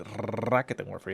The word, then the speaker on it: Raketenwerfer: And I've been told that that is exactly the correct pronunciation of that weapon. It is Raketenwerfer. You have to roll that R multiple times to get the the dialect accent right.